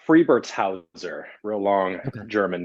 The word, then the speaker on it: Friebertshauser: It's Friebertshauser, real long Okay. German name. Friebertshauser.